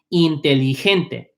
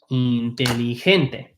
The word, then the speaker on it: inteligente: The G becomes an H. It's pronounced like an H. Inteligente. Right? Okay. Inteligente.